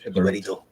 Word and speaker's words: Jibarito: Say it like you speaking Japanese. Jibarito. There you go.